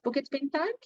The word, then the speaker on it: Bukit Bintang: We call it Bukit Bintang.